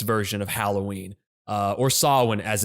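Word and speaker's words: Samhain: say an honorable mention would be listen to Sam Hayne uh Sam Haynes version of Halloween uh or Sinn as it's actually pronounced uh no one's going to pronounce it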